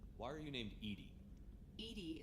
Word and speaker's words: EDI: are you named Ed Ed is thetic pronunciation of Eed that is an acronym for enhanced defense intelligence how are you getting